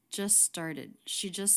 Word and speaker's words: just: How is the word just pronounced? Focus especially on the ending cluster ST. She just started. The T is dropped. This is really common with the ST cluster at the end when the next word begins with a consonant.